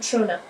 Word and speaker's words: Trona: It's called Trona. Spell that, please.